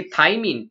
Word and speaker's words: thymine: थाइमीन, THYMINE, this is pronounced as थाइमीन, और ये थाइमीन इज a nitrogenous base.